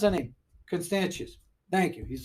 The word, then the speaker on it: Constantius: to my son I'm like how are you pronounce anything constantius thank you he's like a world history buff